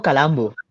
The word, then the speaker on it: Calambu: ¿Dónde está la sílaba tónica? Yo lo llamo Calambu.